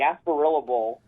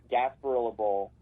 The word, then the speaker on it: Gasparilla Bowl: there would be the gasparillable for the Boca Raton bowl no no no say say it right Bad Boy Mowers Gasparilla Bowl they could also play in The